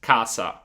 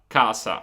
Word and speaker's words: casa: So in Puglia, I used to say just casa, casa. But you can still hear the difference. Cassa, casa.